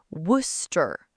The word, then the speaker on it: Worcester: English learners look at the spelling and they panic. Worcester. They try to say every single syllable. Worcester. Which sounds nothing like the actual word. Nothing. The real word is Worcester. Worcester. Just 2 syllables. 2, that's it.